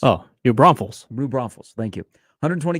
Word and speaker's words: New Braunfels: I got a good high school program I'm butcher the last name Ron follis oh New Braunfels blue Braunfels thank you 120 gas pumps and